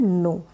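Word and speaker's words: know: जाननी होती है, तब इंग्लिश का वर्ड आता है नो। के इसमें साइलेंट रहता है, के नहीं बोला जाता।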